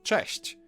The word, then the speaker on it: cześć: Now Polish ch is a bit harsher than its English counterpart, but there's also a comparable softer sound, ch. You can hear both in the word cześć. English version falls somewhere in between those two.